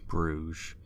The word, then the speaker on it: Bruges: Coming in at number 1, In Bruges. And yes, it's pronounced Bruges, by the way, if you didn't know.